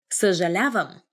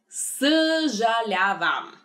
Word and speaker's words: съжалявам: Съжалявам.